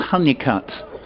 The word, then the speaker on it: Holnicote: My own particular favourite is a course called Honeycutt, and that is spelt Holnicote, Holnicote, and that is between Minehead and Porlock down in Somerset.